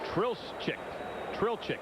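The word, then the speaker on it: Trlicek: Well, Tommy, you tracked down the correct pronunciation of this fellow's name, the right-hander that was up in the bullpen, and that is Rick Trilchik. You got it and still can't say it. Right. Trilchik.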